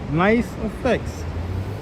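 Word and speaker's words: NYC EFX: The channel name is Nice Effects. It's spelled nice with a Y. So it means New York City everything. And EFX means effects. So you never have to spell everything out. Just say Nice Effects.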